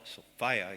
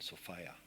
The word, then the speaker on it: Sophia: I like to say Sophia rhymes with desire. And there's a big element of desire in Sophia.